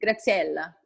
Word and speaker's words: Graziela: But every time I just say, like, pretend that you speak Italian. Just do it. Graziella.